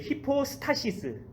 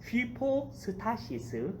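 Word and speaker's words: ὑπόστασις: 히포스타시스, 제 발음이 휘포스타시스.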